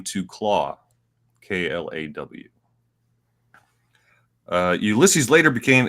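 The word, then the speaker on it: Klaue: yeah uh ulysses cloud i keep saying cloud they say claw um but it reads to me like clow i don't know yeah i mean it's pronounced claw cause of you know he's got the arm thing um first appeared in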